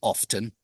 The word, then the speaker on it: often: fine and so yeah I don't normally pronounce the T in often um but you do hear some people say often you do some some